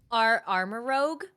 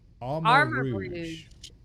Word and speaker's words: Armarouge: Armor Rogue? Wait, no. No, that's Rouge. Rogue is Rogue. Armor Rouge. It has to be Rouge. Armor Rouge because like it's Yes.